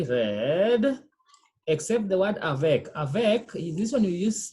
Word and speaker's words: avec: Do you pronounce letter T? A consonant is only read except the word avec. Avec, this one you say avec.